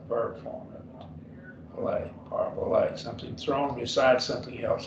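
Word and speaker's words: παραβολή: Parabole, 4 syllables.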